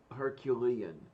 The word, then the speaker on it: Herculean: or Hercules you know herculian or herculan you see what I'm saying I always I was always heard it was Herculean but I mean I don't know I don't know how to pronounce a lot of how do I know okay um by that guide that you always go to Kate for the pronunciations um both in American and in real English um it seems to be Herculean all fair enough I